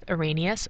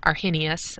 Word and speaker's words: Arrhenius: And we ended with Arrhenius, or Arrhenius, I've heard it pronounced both ways, and what he said made an acid and a base.